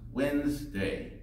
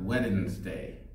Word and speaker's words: Wednesday: silent letters and Wednesday there's a silent D the word is pronounced Wednesday not wet in this day just say Wednesday I